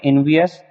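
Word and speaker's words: envious: वैसे हम इसको उचित प्रोनाउंसिएशन में पढ़ेंगे इनवियस, और हम इसको पढ़ मतलब याद करने के तरीके से हम पढ़ेंगे वाइस वाइस।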